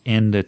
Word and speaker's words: ende: One of the things to notice here with pronunciation is that ende ends with an E, and normally if the next word starts with a vowel, then you drop the final E.